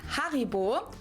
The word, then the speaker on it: Haribo: Maybe not everyone knew that Haribo is actually German. We pronounce it Haribo.